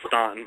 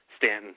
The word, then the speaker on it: Staunton: guess that's why I was calling it Staunton. But we drive coming back from Winston-Salem, going up to my family in Pennsylvania. Obviously, going up 81 there, we see Stanton. I'll use the right pronunciation there. And I have seen on,